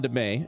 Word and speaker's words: DeMay: Yeah, it's Sean DeMay, and that's how it's pronounced. Oh, DeMay.